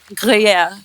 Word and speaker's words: Gruyère: Jacqueline ने pronounce it. Jacqueline क्या नाम है इसका? Gruer. Chateau de Chateau? Gruyère.